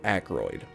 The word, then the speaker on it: Ackroyd: Waverly Ackroyd his name rhymes with hemorrhoid okay so a